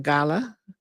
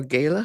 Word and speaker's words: gala: Well, um Michigan Lutheran High School, they had a gala or gayla, however you want to pronounce that.